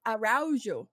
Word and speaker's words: Aro: last name aru AR I like to say if you think around you like Aro you know Aro Biv